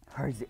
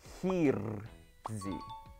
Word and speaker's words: Hirzi: Hirzi, oh my god, I get so annoyed. The correct way to pronounce my name, Hirzi versus Hirzi.